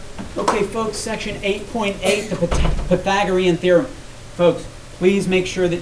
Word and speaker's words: Pythagorean theorem: you're talking about all right so this is pronounced Pythagorean theorem it was it's named after a person named